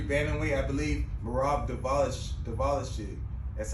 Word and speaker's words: Merab Dvalishvili: He's the last guy actually to beat the number 2 or 3 bantamweight, I believe, Merab Dvalishvili.